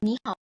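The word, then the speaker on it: 你好: contohnya di sini ada kan tadi ni hao jadinya hao, dari ni hao jadinya ni hao. Terus dari kei jadinya kei. Ini bacanya fu tao.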